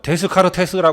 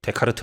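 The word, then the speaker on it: Descartes: 거야요 아저씨가 하신 거죠 여기 보면 데스 카르 테스라 써 있죠 근데 그렇게 읽으면 안 되고 데이트라고 발음해야 되는 겁니다 즉 데카르트 아저씨죠 슈퍼 울트라 초특급 레어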